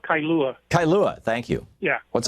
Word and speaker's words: Kailua: It's called Kailua.